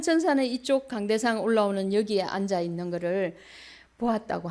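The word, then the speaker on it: עולה: 우리가 이어받을 수 있습니다 번제는 히브리어로 올라 있니다 올라 그런데 그 의미는 올라가다입니다 그래서 너무나 발음이 똑같죠 예 올라 그 의미는 우리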